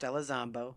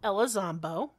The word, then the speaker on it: Elizondo: Properly pronounced Elizondo. Elizondo.